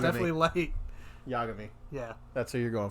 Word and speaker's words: Yagami: Yagami. Yeah, That's who you're going for. Do you want to know how I remembered how to say his name? no. Because it's backwards for I'm a gay.